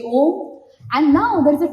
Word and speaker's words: Om: So I'll just like say Om. And now there is a technique because Om is made of 3 syllables like A, U and Ma.